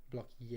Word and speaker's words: Block E: the launch pad hmm you're saying e and block e is pronounced like yeah blocky a apparently good to know